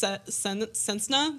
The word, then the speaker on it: Cessna: I'm pretty sure it's sensna. Sensa sa. What's a sensna? Sensna. It's an aircraft.